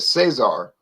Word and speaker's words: Caesar: course they pronounce it Cesar. Cesar. But I think in the Latin, I think in the Roman Empire, in the days of the Roman Empire, it was pronounced Kaiser.